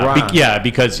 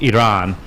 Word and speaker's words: Iran: on the pronunciation of Iran. Because it's pronounced Iran, and he said it's Iran. But so, you know what? We in America, we see an I or R and an A, we say Iran.